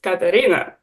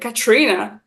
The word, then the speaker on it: Karina: meet me um so in my passport it says Karina but then I know that British people cannot pronounce it every single time it's like Katrina and then I'm like okay that's not quite my name I don't really like